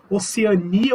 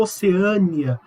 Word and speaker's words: Oceania: Oceania ou oceânia.